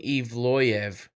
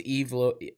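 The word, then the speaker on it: Evloev: you that much so they're saying Eve loyev so I guess that's how you say his name but I thought it was evil Evolution I don't [ __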